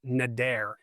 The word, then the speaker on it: neder: The Hebrew word for vow here is neder, N-E-D-E-R is how it's spelled, which means a solemn promise made to God, often involving a pledge to do something or abstain from something.